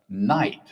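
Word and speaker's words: knight: So, you've got a silent K at the start, a silent GH in the middle. I mean, it's five letters and only the N, I, and T make a sound.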